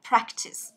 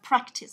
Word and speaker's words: practice: Thế còn unite và riêng cái này thì đọc là âm đầu tiên. Đấy, chúng ta đọc là practice. Đó, practice âm đầu tiên.